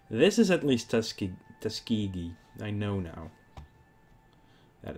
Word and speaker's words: Tuskegee: Um I think this is at least Tuskig Tuskegee. I know now that it's pronounced that way.